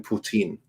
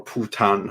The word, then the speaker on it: Putin: I'll even throw in Putin. Or Putan. I'm not quite sure how No, I it's think you said it pronounced. right the But yeah, first time. Yeah, I think Putin.